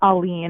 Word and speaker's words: Allen: I'm about to say her name correctly Allen am I saying your name right is that how you say it uh alen alen okay a hard one to pronounce oh no I think I can manage